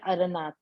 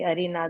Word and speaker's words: अरनाथ: चंद्रप्रभ, और एक है अरनाथ। अरहनाथ बोलते हैं, कोई अरिनाथ बोलते हैं, तो वो अरनाथ। ठीक है, बहुत बढ़िया।